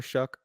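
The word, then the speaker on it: Shough: Tyler Shook. Tyler Shuck.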